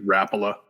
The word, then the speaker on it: Rapala: it but yeah but that's it's finnish right like that's that's how to say it right it's rappola yeah well i can't even